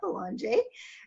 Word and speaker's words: Belanger: and I have with me here today Boulanger do they say that right you did okay